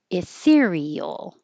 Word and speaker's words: ethereal: Ethereal. Ethereal. It's not very often that the two vowels next to each other are in separate syllables, but we hear these separately. Eel. Ethereal.